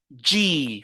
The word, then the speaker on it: G: petite précision vous savez en français cette lettre-là elle est appelée g mais en anglais on l'appelle j faites beaucoup attention parce qu'il y a euh certains qui confondent la prononciation de ces de C cette lettre làà dans les deux langues en français on dit g mais en anglais on dit J d'accord très bien on